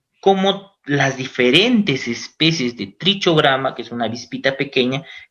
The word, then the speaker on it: Trichogramma: va a ser trichogramma bueno se pronuncia trichogramma trichogramma produce escribe trichogramma entonces trichogramma es como